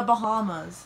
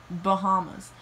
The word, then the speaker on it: Bahamas: the united kingdom also it's called the bahamas it's not bahamas and trinidad is larger